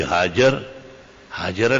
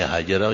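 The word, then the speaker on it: هاجر: ہوا کہ بی بی ہاجرہ لفظ نہیں ہے، ہاجرہ یہ موزمبیک زبان ہے، ہاجرہ جاہلوں کا تلفظ ہے۔ لفظ ہاجر بفتح الجیم وبدون الہا فی آخرہ ہی اسم ام اسماعیل، محیط المحیط 1314 صفحہ، اور بخاری مسلم ترمذی ہر کتاب میں ہاجر کہیں بھی ہاجرہ نہیں ہے۔ جب درسگاہ سے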